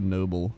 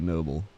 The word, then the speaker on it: Nobbel: But the Dutch way is noble, but a lot of people say noble.